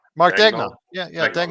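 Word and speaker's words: Daigneault: Is Mark Danglot? Is it Danglot? I can never pronounce his name. He said he's going to get an OKC Speedo. Reggae Joe said. They make those. How do you say his last name? Whose? Dagnall. Mark Dagnall.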